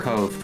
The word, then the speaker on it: Kov: Also, is it Cov or Cove? Oh, shoot, it's Cove. Right. He actually said, I was asking about pronouns. And he's like, I more care that you pronounce my name right. It's Cove.